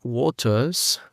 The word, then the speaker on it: waters: Después aquí la palabra waters, tenemos diferentes maneras. Waters. La R casi ni se pronuncia. Tenemos waters, waters, waters. Depende de si hacemos una pronunciación más americana o más británica.